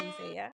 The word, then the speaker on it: Jean Louis: Yo, shout out to you guys, Jean Is that Jean Louis. Louis? That's how you say it, yeah.